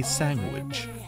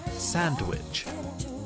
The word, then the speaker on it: sandwich: this limited edition gourmet sandwich. I'm gonna get people in the comments saying I say it wrong. I can tell it. Sandwich. Sandwich. Okay. People always say you put a G in there.